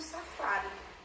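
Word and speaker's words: safári: Eu encontrei minha sílaba tônica, que é o fá.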